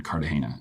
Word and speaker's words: Cartagena: And then the last week we got to go shoot one thing down in Cartagena, and that was unbelievable. Am I saying it wrong? Cartagena.